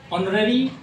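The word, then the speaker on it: honorary: इसका भी पहला अक्षर ऑनररी जॉब माने अवैतनिक कार्य या रोजगार, इसका भी पहला अक्षर जो है एच है, लेकिन उच्चारण इसका हो नहीं हो रहा, ओ हो रहा भावेल साउंड, इसलिए एन ऑनररी जॉब।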